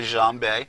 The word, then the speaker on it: djembe: I still enjoy playing, and it's a part of you, And I have a djembe, an African drum, so it's, See, I could tell you for real because you even said it right.